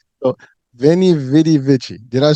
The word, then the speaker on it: veni, vidi, vici: So VENI, VIDI, VICI.